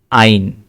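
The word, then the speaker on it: ein: যেমন আইন, ঠিক আছে?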